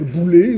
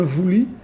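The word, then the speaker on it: βουλή: le le mot conseil en grec Boulé ou en grec moderne vouli parce qu'ils prononce pas ils ont le même mot mais il le pronc pas de la même façon que nous sommes habitués à prononcer le grec ancien il désigne le Parlement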